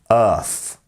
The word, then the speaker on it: Earth: live um Earth Earth remember that f f f sound at the end we're taking the tongue putting it against the top teeth and blowing air through Earth good job um okay